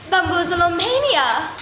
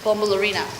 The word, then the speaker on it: Bombalurina: Bamboozleomania. Her name is pronounced Bombalurina, Heidi.